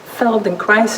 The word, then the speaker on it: Feldenkrais: method of somatic education that's Feldenkrais it rhymes with very nice so follow along with